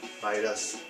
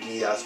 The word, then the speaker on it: Midas: Yeah, I mispronounced it Midas when I started buying their games 4 years ago. And then learned, hang on, it's pronounced Midas.